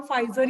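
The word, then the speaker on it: Pfizer: AstraZeneca P फाइजर कहते हैं, मतलब पी फाइजर लिखा हुआ, फाइजर ही है कंपनी का नाम, तो पी इज साइलेंट, तो उनकी तो रेडी है vaccine, they are ready with all the things.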